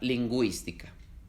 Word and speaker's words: lingüística: Para hacerlos, se ponen dos puntos encima de la U, como en la palabra lingüística.